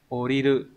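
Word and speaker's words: 降りる: Đúng rồi, oriru. Và số 4, đây là chữ di. Chữ di này đọc là utsuru.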